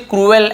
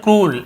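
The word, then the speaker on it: cruel: ठीक है, यहाँ पे हम इसे क्रूएल ऐसे पढ़ते हैं, क्रूएल, लेकिन एक्चुअल में इसे प्रोनाउंसिएशन क्रूल ऐसे होता है।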